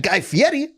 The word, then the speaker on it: Guy Fieri: i am louise the mayor of flavortown i'm guy fieri that's how you pronounce his name do you know that yeah